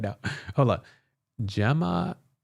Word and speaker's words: Gemma: By the way, Gimma pronounces like Gemma. Oh, Gemma with a J as next letter E I Y like gentle Jim. Oh, Jimma.